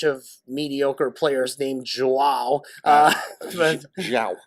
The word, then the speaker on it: João: João, I think is the Portuguese pronunciation.